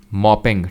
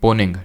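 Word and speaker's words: Mponeng: होती हैं, वो है मोपेंग, ठीक है, या फिर पोनिंग, जो भी आप बोलिए, ठीक है, पोनिंग, ठीक है। यहाँ पे M साइलेंट होगा, साउथ अफ्रीका में।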